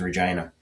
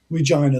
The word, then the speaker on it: Regina: south and east towards Regina. And that is the Via Rail stop in this part of Saskatchewan. So, Nice. Regina, that's the town that rhymes with fun.